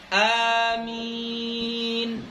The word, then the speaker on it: آمين: antara empat bahasa itu cara bacanya adalah Amin bilmaddi Wat takfif ini supaya jangan salah